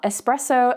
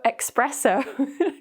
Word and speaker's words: espresso: our brains just think, espresso, espresso, and we get a bit confused. So be careful, there's no k sound, it's just espresso, espresso.